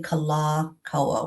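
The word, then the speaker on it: Kalākaua: of the diiocriticals but it's actually Kala Kawa with the long a so that mron is over the K A L A. It's on one of the later A's.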